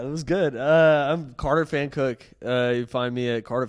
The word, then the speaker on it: Pfankuch: PFANKUCH. That's easy. It's pretty hard to say and pronounce. Fan Cook.